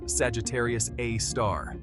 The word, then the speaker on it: Sagittarius A*: At the center of our Milky Way galaxy lies a supermassive black hole known as Sagittarius A, pronounced Sagittarius A star.